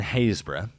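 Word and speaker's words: Happisburgh: island so no sea Crossing required here in hayra yes that is how it's pronounced I know I'm sorry on behalf of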